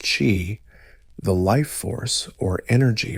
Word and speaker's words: qi: At its core is the concept of qi, pronounced qi, the life force or energy flowing through the body along invisible channels called meridians.